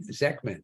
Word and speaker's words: Zechman: hope I say your last name right Megan zman is that right you are right you are